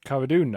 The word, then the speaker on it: Cara Dune: Cara Dune.